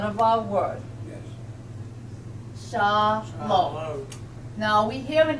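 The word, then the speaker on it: שלום: but it's part of our word yes shal Shalom shom now we hear an M sound at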